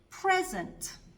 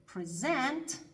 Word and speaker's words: present: Если ударение стоит на первом слоге, перед нами существительное. Если же на втором, перед нами глагол. Давайте рассмотрим несколько примеров. Present – подарок. Present – дарить.